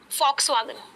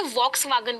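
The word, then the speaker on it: Volkswagen: एक गाड़ी की ब्रांड है फॉक्सवैगन, बहुत सारे लोग उसे वॉक्सवैगन बोलते हैं। हमारा जो वी होता है जर्मन लैंग्वेज में वो फा प्रोनाउंस होता है।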